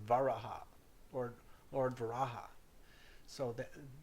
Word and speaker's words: varaha: say varaha or lord varaha so that in tibetan buddhism in naples and nepal they say bhairav i mean they say uh baraja instead of varaha so they use the b for the v instead so here um